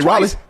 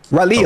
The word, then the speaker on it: Raleigh: I've been to Raleigh. Raleigh. Raleigh.